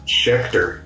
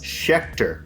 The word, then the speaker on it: Schechter: Schechter, yes. Schechter, okay. Rhymes with Hector, yeah.